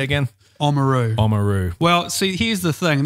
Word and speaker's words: Oamaru: to visit if you don't say again Amuro oamaru well see he's the thing this is a hotly debated topic I do believe the correct pronunciation is Ola Meru yeah but like all locals the good certain